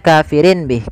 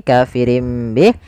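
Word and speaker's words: كَافِرٍ بِهِ: Awalnya kafirin bih karena dia ganti suara nunnya, kafirin bih diganti dengan huruf mim. Kemudian ketika kita melafalkan ini kafirim bih, itu sebenarnya ada 2 cara baca. Yang pertama dengan itbaq, yang kedua dengan suara furjah. Tapi kita mengambil yang itbaq saja, yaitu bibir kita tertutup dengan rapat.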